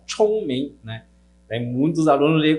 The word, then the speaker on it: 聪明: Lembrando, é ch, então, 聪明, né?